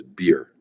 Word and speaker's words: Beer: he did non-fiction as well someone named Thomas beer spelled like like the drink uh beer and uh